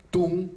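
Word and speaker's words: Thun: Tung se escribe con T-H-U-N, ¿sí?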